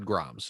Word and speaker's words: grames: I always said Groms. Is that right? It's not even Groms, a French company. Grom.